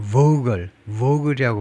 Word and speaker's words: Vogtle: 공사비는 2배로 올라가고, 다음에 이 회사 이름 발음이 좀 어려운데 트 발음을 안 하네요. Vogtle이라고 발음하네요.